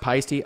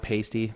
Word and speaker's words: Paiste: Paiste whereas Paiste from our pastier pipes it's pronounced Paiste I've always called it pasty but it's to be to be you know politically correct I'll just call it Paiste right yeah I'm curious though I feel like